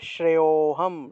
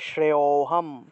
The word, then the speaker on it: শ্রেয়োহম: শ্রেয়োহম এই যে শব্দটা এটার উচ্চারণটা হবে শ্রেয়োহম শ্রেয়োহম কারণ এখানে একটা লুপ্ত অ আছে লুপ্ত অ থাকায় আগের অংশটা একটু টান দিয়ে উচ্চারণ করতে হবে তাহলে শ্রেয়োহম তারপরে দেখুন দুই নম্বর